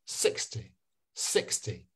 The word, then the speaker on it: sixty: I'm concentrating on the teen so that means it's one six but with 60 the t is is a little bit quiet sixty sixty so um NYU I'm going